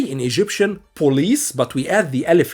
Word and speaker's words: البوليس: But we don't say it like in English police, but you say it police. Okay? So as if the B is not the P is B.